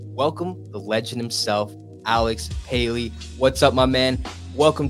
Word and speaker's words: Paley: player driven universes welcome the legend himself Alex py what's up my man welcome to the show